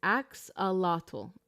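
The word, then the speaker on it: axolotl: the same wavelength here um best way to pronounce it is ax alato okay thank you so much because I was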